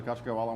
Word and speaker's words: Caciocavallo: So the Caciocavallo won second last year at the Royal, and second this year at the How do you say it again, Tori?